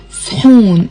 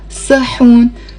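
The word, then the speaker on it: صحون: word sahan, which is shoon. It's one syllable and it has a ha. Shoon. You should be able to say it with one clap. Shoon. Shoon. It's not sahoon.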